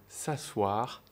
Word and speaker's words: s'asseoir: savoir que le verbe s'asseoir a deux manières de s'écrire en français s'assoir et s'assoir avec un e avant le O réellement cela se prononce de la même manière et il est beaucoup